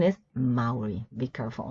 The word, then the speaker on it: Maori: And there's also this one that also takes capital because it is a word of origin, and the pronunciation is Maori.